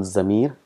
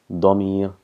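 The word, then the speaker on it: ضمير: single is Co dummy it's not Zamir it's dummy dog so just practice a bit pronunciation dummy here we'll be using this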